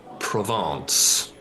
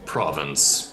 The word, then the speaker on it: Provence: A 2-story building called Provence, or Province, as most of the population mispronounces it.